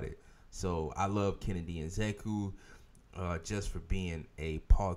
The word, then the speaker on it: Nzechukwu: Kennedy Nzeku. Kennedy Nzeku. Are you sure? I am sure. I just watched an interview on it. That's how he pronounced it.